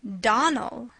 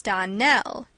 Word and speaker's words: Donnell: you pronounced our name Donal now miss shely the correct pronunciation of our name is Donell Accent on the last syllable I hope you'll remember